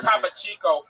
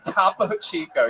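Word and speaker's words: Topo Chico: Or Top Chico. all that, dude. Tapo Chico. Yes, that is exactly how that's pronounced. Don't ever change it.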